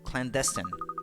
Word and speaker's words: clandestine: know um foreign accent is on the second syllable clandestine okay okay the woman's